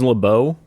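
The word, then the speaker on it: LaBeouf: give you I'll give you a hint shy La buff beef shy beef how do you pronounce his last name Le is it laou yeah it's like a is leau Even Stevens man Even Stevens you know that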